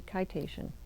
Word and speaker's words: Kitation: Did a pattern for local yarn shop day, and she called it Kitation. So, well, she said it rhymes with citation, so it must be Kitation.